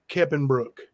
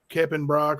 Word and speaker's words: Keppenbrock: Like she just called that guy Ronnie Keppenbrook, and it's spelled the last part of the name is Brock, Brock. So it's Keppenbrock or Kepperbrock, but not Brook.